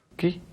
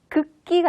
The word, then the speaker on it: 국기: 국기? 국기. 그렇습니다. 한 번 더 발음해 보실까요? 국기. 국기. 네. 극기가 아니라 입을 쭉 내밀고 국기.